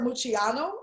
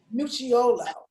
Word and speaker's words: Muchiolo: university's only um robert mucciano and i think i mispronounced that so robert give me the right pronunciation of your last name to yolo muchiolo all right robert muchiolo